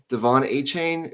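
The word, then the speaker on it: De'Von Achane: Devon A-Chain? Is that? Yep. Okay. Devon A-Chain. I've heard people pronounce it differently.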